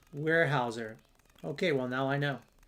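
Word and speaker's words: Weyerhaeuser: Now going back to where we were uh Novo Wy is pronounced warehouser.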